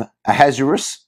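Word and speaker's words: Ahasuerus: a hazaris and there there are multiple ways to pronounce his name some people call him aha a has ueris uh uh a hashurish uh there's a there's a hebrew way to pronounce it which i'm not even going to attempt but we're going to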